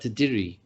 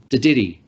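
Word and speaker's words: Dadirri: And now I want to start talking about Te Didiri, as it's pronounced in the Daly River, Te Didiri, which is explained by Miriam Rose as a deep listening to country.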